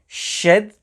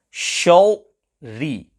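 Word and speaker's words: شر: Shadri. Quite often, pupils here pronounce the first ra full mouth shal-ri. Shal-ri. This is incorrect.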